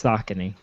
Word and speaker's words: Saucony: what you've never okay so connie or is a tennis shoe brand i'm just saying okay now that's that's balcony no it's a county what it's spelled totally different though doesn't matter it sounds the same in my head it's saucony anyway so aside from